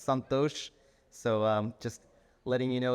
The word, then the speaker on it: Santhosh: And I say that also because Raj is here, my wife, and she will correct you if you pronounce my name incorrectly. It's Santhosh, so just letting you know that you better say my name correctly.